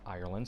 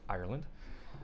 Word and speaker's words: Ireland: Hey guys, here I am, still in Ireland. Saying it right this time as opposed to last time. I was told I draw out Ireland, so it's Ireland.